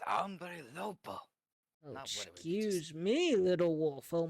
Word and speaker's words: Hombre Lobo: character let's get that how do you say it again ombre Lobo umbre Lobo it's umbre Lobo excuse me Little Wolf